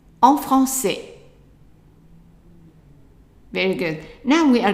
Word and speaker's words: français: So en, franc, and then the C has a CD, which means that it will always be pronounced as a S sound. So that's S. And then the AI is an A, right? And the S at the end is silent.